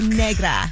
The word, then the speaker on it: Negra: but also an author let's not forget that Negra is that am I saying it right you're